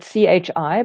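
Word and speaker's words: qi: some people spell it Chi but I learned in my Chinese textbooks it's all pron it's all spelled with a q but it's pronounced Chi um and acupressure for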